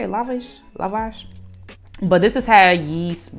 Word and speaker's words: lavash: I wanted like something like bready, and that's how you say it, lavash.